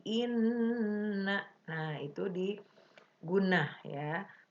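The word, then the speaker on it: إنّ: Ali Imron ayat 190-191 Inna itu guna ya ada Nun bertasydid dibacanya jangan Ina tapi Inna Nah itu dipergunakan ya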